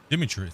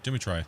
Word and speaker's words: Dimitri: much for the uh Demitri sorry demitry there you go there we